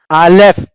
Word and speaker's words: Aleph: And we don't uh, have any pronunciation at all. That's why I said we do not know anymore how to pronounce Aleph. Maybe they have pronounced it, but the Masoretes rendered it nothing, no sound at all.